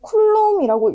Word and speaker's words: 쿨롬: 그래서 우리 이 전하량이라는 거를 이제 기호로 나타낼 텐데 우리 기호는 Q라고 얘기를 하고 단위는 C라고 쓰고 우리는 쿨롬이라고 읽습니다.